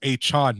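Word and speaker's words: Achane: pronounce his rain right I think it's achan now so now they bring aan and then they have Chan like Jackie Chan a it might be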